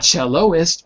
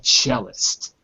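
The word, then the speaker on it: cellist: Not celloist, but chist.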